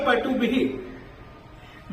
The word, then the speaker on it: पटुभिः: के साथ में पाएंगे, इसीलिए बोला जाएगा पटुभिः। विसर्ग का उच्चारण स्वर के साथ, परंतु इस विसर्ग का उच्चारण जो आलेखन है स्वर के साथ, मगर यदि इसका उच्चारण होगा तो आधे ह के रूप में ही होगा, आधे ह के रूप में ही होगा।